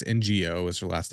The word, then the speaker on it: Ng: I'm gonna say her name wrong. No, I don't know if that's how you say it. It's NGO is her last name.